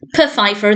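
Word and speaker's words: Pfeiffer: you call him Mr Fifer to begin with and he corrects them and says it's p Fifer the p is silent and he initially thinks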